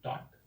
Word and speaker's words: taught: इसका सही है TAUGHT, टॉट, करेक्ट है, गॉट इट।